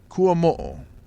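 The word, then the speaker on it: Kuamoo: said my friend's name his last name is kuam yeah which is a Hawaiian name kuam you look at it right now now you know how to spell it the way I said it k u a m o o KU with a ball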